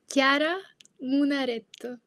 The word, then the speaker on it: Chiara Munaretto: It's much better than the way I It's Chiara Munaretto. Yes. So what she said, that's her name. That's much better said than the way I pronounce it.